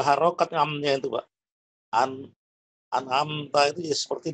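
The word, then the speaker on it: أنعمت: Nah, membaca an'amta nggak boleh gini, Pak, bacanya. An'amta. Nggak boleh dipisah-pisah, Pak. Oh, iya. Tapi harus Jadi kita gabung, Pak. ya? Dengan cara kita tekan gini, seolah-olah kita tekan.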